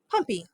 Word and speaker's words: Pompey: And I've already had kids say, "Are you sure it's not Pompeii?" Yeah. Pompeii is spelled with E-I-I at the end. Pompey. That's Pompey.